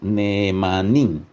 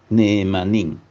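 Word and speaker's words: נאמן: en hebreo significa eh el sonido la pronunciación es neeman neeman Entonces el sentido de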